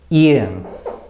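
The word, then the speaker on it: 이응: only, we write o, iung. And when iung is used as the first consonant, it is silent, and it is used as a zero value letter that only serves the purpose of filling the blank.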